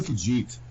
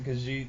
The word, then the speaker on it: Khajiit: I'm a Khajiit. Khajiit? How do you say it? Khajiit? Khajiit, yeah.